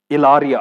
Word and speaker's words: Hilaria: iga het the dinga Hilaria kiti thu hin amo pronunciation a chu Ilaria ati win hi Ilaria ati win